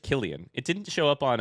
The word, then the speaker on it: Kylian: Kylian. I did. So, it's just Killian.